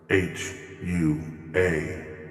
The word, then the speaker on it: HUA: u and h are one properly put together h u a and pronounced hua to understand the history of this